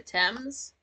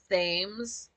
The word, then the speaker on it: Thames: Uh, the Thames, which it's cute because that's not a word you're gonna really know how to pronounce until you like go up into the world.